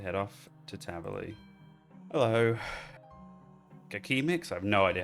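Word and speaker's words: Kaqemeex: Kakimix? I have no idea how to pronounce that. Let's look that up. It's pronounced cake mix.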